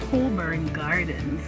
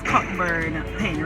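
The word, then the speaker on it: Cockburn Gardens: The correct name is Coburn Gardens. Coburn Garden. But sorry, but you see why people would pronounce it as Cockburn Pen, right? yeah, based on how it is spelled or something like that. Yeah, based on how it is spelled, COCKB, we're gonna have it down here. Yeah. Somewhere here. But yeah, based on how it is spelled, Yeah. then you will realize that people pronounce it based on that.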